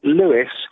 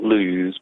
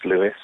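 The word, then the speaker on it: Lewes: england julian go ahead hi george um it's lewis i know it's about lose but it's pronounced louis might be down your way in dundee we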